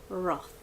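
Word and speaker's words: Wrath: Roth. Just think of like rough, like, you know, the thing.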